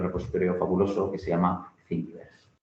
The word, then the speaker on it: Thingiverse: Entonces, para que os suene, hay un repositorio fabuloso que se llama Thingiverse. Se escribe Thingy, como de thing, de cosa en inglés, verse, como de universo, ¿no?